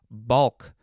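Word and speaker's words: baulk: word of the episode it is bulk chiefly british variation of the word bulk this one is spelled b-a-u-l-k uh let's see we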